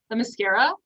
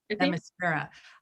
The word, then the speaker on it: Themyscira: I don't know how to pronounce it, but what's the name of the island that Wonder Woman comes from? Themyscira. Themyscira.